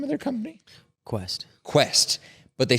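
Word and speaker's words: Quext: what was the name of their company quest Quest but they spell it in a weird way they spell it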